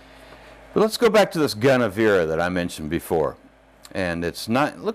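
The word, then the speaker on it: Gunnevera: go back to this gun avira that I mentioned before and it's not it looks like it looks like Guinevere but it's spelled g un n EV er a I don't know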